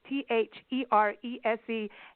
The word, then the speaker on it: Therese: Therese calm and to prove I can spell it's th e re se s ke e ll why did I get